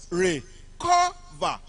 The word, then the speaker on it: recover: Recover on the second syllable.